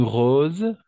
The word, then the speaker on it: rose: une collection ok une rose d'accord une rose à chaque fois que le S se trouve entre deux voyelles on va prononcer comme un Z rose d'accord une rose